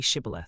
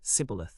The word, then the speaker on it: Shibboleth: When he said, No, they said to him, Say Shibboleth, and he said, Sibboleth, for he could not pronounce it right.